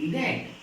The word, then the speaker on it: read: Third form READ रेड, pronunciation उसका होगा रेड रेड, बट spelling same, READS reads, fourth form, and fifth form READING reading.